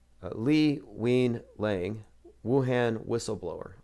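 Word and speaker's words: Li Wenliang: this was like uh lee wein lang wuhan whistleblower i heard it pronounced it sounds like we lying anyway another 33 year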